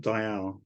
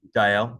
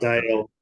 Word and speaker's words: Dayal: As long as it's two syllables, Okay. that's the only thing. Yeah. 'Cause Yeah. it's not Perfect. Dale. Yeah. It's an Indian name, so they would pronounce it Dayal. Dial. Okay. All right. But anything as two syllables with the emphasis on the yal, so it's Dayal, not Yeah. Dayal. Got it. You know, everyone gets it wrong, so it's Dial.